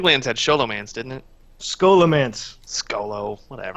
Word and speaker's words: Scholomance: had scholomance didn't it scholomance skolo whatever i' I said it wrong for eight years until I went oh yeah there's scholars in the building right and oh Skol mancy is this a is